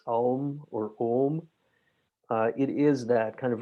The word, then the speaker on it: Om: this very simple syllable, which in Buddhism is often written as OM, and in yoga and in the Yoga Sutras is discussed as AUM.